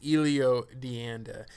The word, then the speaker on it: Elio Dianda: And I always say his name wrong. Sometimes I say Elio, sometimes I say Elio, but I believe it's Elio Dianda.